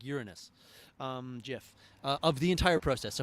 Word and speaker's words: GIF: gif uh yes jeff uh that's how you pronounce it like uranus um jiff of the entire process so hopefully this doesn't